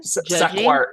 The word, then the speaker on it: Sequart: Sequart is how they say it. Like, yeah, for like sequential art because it's a book. It's a company that focuses on comic books and sequential art.